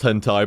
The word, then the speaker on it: hentai: and hentai and I always knew it was pronounced hentai but I like like said like that's going